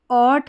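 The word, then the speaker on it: ought: आप देखेंगे तो इस स्पेलिंग में जी एच जो है उसका उच्चारण नहीं वो साइलेंट है।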